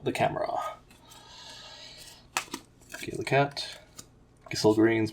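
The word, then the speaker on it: Gysahl Greens: Gissel Greens, which I always used to pronounce Gishel Greens for some reason.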